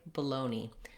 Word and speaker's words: baloney: this way sometimes people for this word even though that's spelled as bologna they will say baloney that's probably the most common pronunciation and then whichever spelling